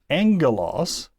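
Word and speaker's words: ἄγγελος: But when we have it in combination with itself as a gamma-gamma, it makes an ng sound. So angelos is alpha, gamma-gamma. Angelos.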